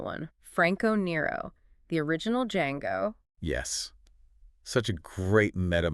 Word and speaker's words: Django: And the little joke they have in the bar about how to pronounce Django. Yeah, the D is silent.